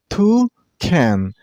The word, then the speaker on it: toucan: This bird name has two syllables. Toucan. And you also stress on the first one. I mean on two sound. Toucan.